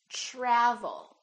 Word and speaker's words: travel: say try try so the TR together make this sound almost like a CHR almost like CH but it's a softer one it's t try try so let's look at some words that are spelled with tr try travel we don't say travel or travel we say travel tradition tradition let's try